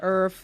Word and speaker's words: ERFE: We are at, I pronounce it Earth. Somebody correct me if I'm wrong. It's ERFE Designs.